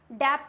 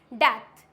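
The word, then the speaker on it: debt: से पहले आया अगर बी टी से पहले आता है टी है और उसके जस्ट पहले हमारा बी है तो बी हो जाएगा साइलेंट फॉर एग्जांपल यहां पे डेप्थ डेप्थ नहीं होता है इसको क्या बोलते हैं हम डेथ क्या बोलते हैं इट्स डेथ इट डाउट डाट तो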